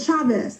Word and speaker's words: Chavez: Chavez. That's a hard C. Yes. Not a soft C.